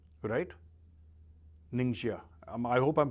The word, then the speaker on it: Ningxia: कि निंगशिया एक जगह है चाइना में, right, निंगशिया, I hope I am pronouncing it correct, इसकी स्पेलिंग है NINGXIA, वहां